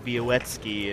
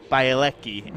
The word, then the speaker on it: Białecki: until she met Sebastian Białecki, and she said Białecki, and no, he said no, Białecki. No, Białecki. There's no W in there at all.